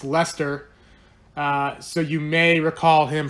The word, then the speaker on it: Leicester: from like a steel City pronounced Lester so you may recall